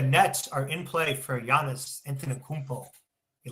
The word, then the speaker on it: Giannis Antetokounmpo: They are telling me that the Nets are in play for Giannis Antetokounmpo. You like that? I pronounced his name right.